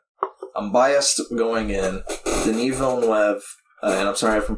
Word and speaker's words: Villeneuve: Denis Villeneuve, and I'm sorry if I'm pronouncing it wrong.